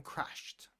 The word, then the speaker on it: crashed: Um, pay attention in the word crashed because of the sh sound at the end. The ed is pronounced as a te. Crashed. It crashed because of the sh similar to washed, right?